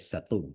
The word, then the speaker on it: Satun: Uh Satun or pronounce it in Thai language. Satum, you know, is a